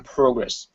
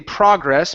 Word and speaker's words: progress: okay very good now that last word there can be pronounced two different ways personally I say progress but there are many in the United States that also say progress uh also that's the British pronunciation of the word so they are they